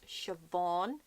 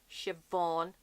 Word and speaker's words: Siobhan: Irish I just know Irish names so it's shavon shavon Vivian another name is Shaun and Maguire a lot of people pronounce it Shannon but is Sean and Sean